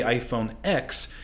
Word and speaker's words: iPhone X: about the iPhone X you've been pronouncing its name wrong all these years although it is in Ex Apple intended it to be pronounced as the Roman numeral 10 rather than the letter of the alphabet and this confusion is